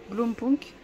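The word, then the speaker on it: Blaupunkt: Blompunk. Donc, c'est comme ça que ça se prononce.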